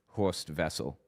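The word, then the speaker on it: Horst Wessel: That's who Hoor Vessel was. H O R S T W S E L, but of course W's are pronounced like V's in German. So it's Ho Vessel.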